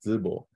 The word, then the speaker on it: Zibo: But this 22 years in China, I lived in this Shandong province, both Zibo, and actually the correct pronunciation is Zibo.